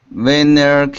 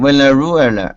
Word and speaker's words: Venezuela: No, that's a Z. Venezuela. Can you repeat? Slow down. Venezuela. Venezuela. No, it's Z, like zebra. Zuela. Venezuela. Say zoo for me. Zoo. Ru. Good. Now it's zue. Zue. Rue. But you're making a mistake with the Z, because you're swallowing the Z sound.